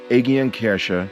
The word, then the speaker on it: Aegidienkirche: The Aegidien Church, or pronounced Aegidienkirche in my best German, stood first as a small chapel as far back as the 10th century.